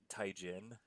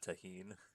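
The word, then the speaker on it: tahini: It was uh taen instead of taheen.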